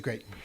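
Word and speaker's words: Graton: it reads It's great. Groton, Yeah. but it is Grayton.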